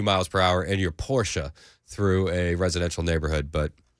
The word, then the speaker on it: Porsche: I honestly forgot that it was Porsche. I always say Porsche, but fair enough.